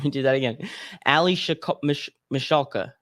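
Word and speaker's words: Michalka: aka allison michaela and it says it's pronounced mish alka oh so i said that wrong so hold on let me do that again ali mashalka how old is she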